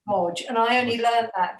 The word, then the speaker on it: Wadge: And Amy, and it's actually pronounced, it looks like Waj, but it's pronounced Wodge.